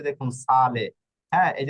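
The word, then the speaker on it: sale: বোকালের যেকোনো একটা বোকালে থাকলে এস এ অক্ষরের উচ্চারণ জ এর ছয় এর মত হবে এই যে দেখুন সালে হ্যাঁ এই যে দেখুন এস এ হচ্ছে প্রথম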